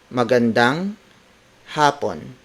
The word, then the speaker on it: magandang hapon: Morgan dong happen Morgan damn happen word-for-word it's magandang hapon Magan dong happened magandang happened happen is spelled as H a P o and it means afternoon that time between 1 p.m.